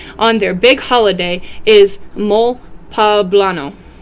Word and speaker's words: mole poblano: their big holiday is mol pablano pronounced with the emphasis on the second syllable like guacamole so like papano that's invented in